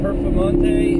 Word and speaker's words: Performante: becomes a handful now is the is the performante is that how you say it yes perante